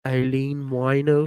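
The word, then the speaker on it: Aileen Wuornos: down in florida i was like aline eileen eileen wino just always whenever you want to think of how to pronounce her name just think of a a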